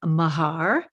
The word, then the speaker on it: Meagher: audience know out there your last name is spelled m-e-a-g-h-e-r so a lot of people might call you meager right uh I get